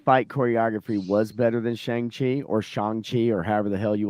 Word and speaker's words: Shang-Chi: It's Shang-Chi and will always be Shang-Chi, and you can't change it from being Shang-Chi no matter what you say, because that's always what it was.